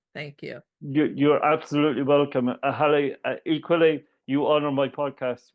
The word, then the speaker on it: Haleh: I usually say it's pronounced like Hallelujah, Haleh, to make it easy for people to pronounce my name.